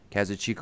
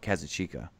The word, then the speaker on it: Kazuchika: The nominees were Kazuchika Okada versus Kenny Omega. You said that wrong. I said it wrong? Kazuchika? Actually, when he was on the Observer podcast, he said himself Kazuchika.